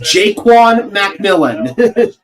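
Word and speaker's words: Ja'Quan McMillian: It is pronounced Jaquan McMillan.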